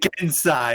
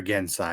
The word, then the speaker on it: Genasi: pronounced it Gensai, okay? I've heard that pronunciation. It's common in some areas. I've also heard Have your Genasi.